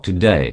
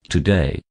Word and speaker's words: today: is pronounced as today kindly do not stress on o and make it sound like double o the phonetic symbols for today clearly show that today is not pronounced as